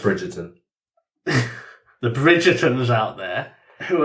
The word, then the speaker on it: Bridgerton: But the issue I take is when you get all Braggertons out there because of... It's pronounced Bridgerton.